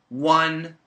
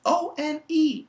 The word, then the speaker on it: one: consonant no Shane it's o n e o is a vowel yes O is a vowel but the pronunciation is not on it's one which is a w which is a consonant which means we can